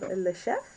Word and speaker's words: chef: So we have le chef. Le chef. Yes, in this case, the F is pronounced.